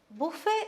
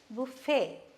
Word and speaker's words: buffet: commonly used in english buffet is see the t is silent okay buffet that's what it's pronounced